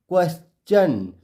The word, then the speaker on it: question: तो हमने रूल में देखा था टी के बाद ION हो और उसके पहले S हो तो टी का उच्चारण चौ होता है। तो क्या बन गया? क्वेश्चन।